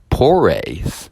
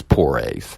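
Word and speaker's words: Proyas: this movie is directed by Alex Porres I believe Porres if I'm not mistaken it's it's I I it's spelled differently than it sounds uh but he also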